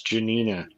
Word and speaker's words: Janina: I'm actually happy Janina is back because we missed her last week when By the way, you're pronouncing her name wrong. It's Janina.